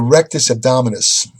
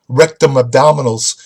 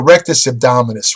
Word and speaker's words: rectus abdominis: only one-third of the abdominal musculature it's called rectus abdominis when I was a kid I mispronounced it in a gym I went up